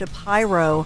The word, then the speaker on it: Shapiro: I don't think people talk about that, but he was actually Josh Shapyro. Yeah. And I think that people mispronounced because obviously there are some famous Shapiro, you know, in America. Yeah. And I think it's probably one of those things where he just figured I'll just go with it because everybody was mispronouncing his name constantly.